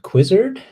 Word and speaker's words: Quizrd: with this idea called quizzard here's my overly dramatic fade in slide with my logo and everything rhymes with wizard uh because it's a